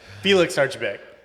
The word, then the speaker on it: Archibeque: Did I just pronounce that correctly? And I'm gonna say Felix Archa. How? I was kidding. You got it. Felix Archibeque.